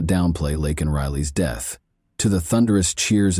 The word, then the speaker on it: Laken Riley: but did not downplay Laken Riley's death. To the thunderous cheers of his supporters, Biden mispronounced the victim's name during the speech, saying instead Lincoln Riley.